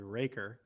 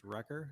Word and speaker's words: Recker: Also, I don't know if I caught this before, but you called me Recker, which is how I pronounce it in my small hometown. And then everywhere else it's Recker.